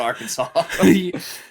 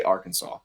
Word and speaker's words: Arkansas: don't pronounce it Aransas because it's literally spelled like AR and then Kansas but we for some reason say Arkansas AR Kansas um question